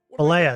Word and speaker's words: Bollea: That I did not say is Terry Jean Bollea. Okay? Bollea, that's how you say it. And Terry it's the Bollea.